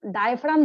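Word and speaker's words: diaphragm: PHRAD silent होता है यहाँ पे, डायफ्राम।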